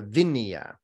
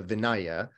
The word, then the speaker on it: Vinaya: what is known as the vinya or sometimes pronounced the vinaya which is the list